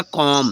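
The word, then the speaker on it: comb: ठीक है नेक्स्ट है सीओ एम बी तो हो जाएगा कॉम बी साइलेंट हो नहीं कॉम ठीक है कॉम रंग प्रोनंसिएशन हो जाएगा इसको पढ़ेंगे कॉम ठीक है फ्रेंड्स क्या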